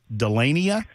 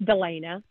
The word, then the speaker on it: Delana: From James to, I believe this is Delania. Am I pronouncing that correctly, ma'am? Delania? Hi, it's Delana.